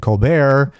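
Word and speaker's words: Colbert: I have to make sure because I like I think of Steven Colbear who does not pronounce the T but this Paul Rapaort character wants to mention all the letters because each and every letter is important.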